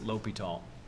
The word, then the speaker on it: L'Hôpital: And yes, that does look like hospital, but that when you are pronouncing this word in the French style, it's L'Hôpital. Okay?